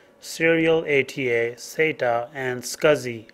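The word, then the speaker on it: SCSI: hard drives are parallel ATA Theta as is pronounced Serial ATA SATA and scuzzy S CSI external hard drives can connect to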